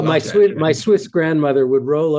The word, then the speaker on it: Platter: Thank you for that wonderful Germanic pronunciation, Dan. I have to say, I just English go straight for Platter, and you're like Yeah, that's well, Platter.